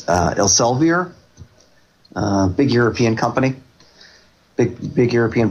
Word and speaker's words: Elsevier: I always have trouble with the pronunciation, but it's Elsevier, big European company, big European publishing company in medicine.